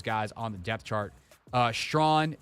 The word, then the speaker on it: Strawn: Strawn, a.k.a. the artist formerly known as Strachan until we all learned how to pronounce his name.